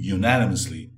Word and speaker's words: unanimously: Manteve por unanimidade lá, unanimously, a pronúncia desse U inicial é unanimously, upheld, ou seja, manteve por unanimidade a condenação por corrupção e lavagem de dinheiro.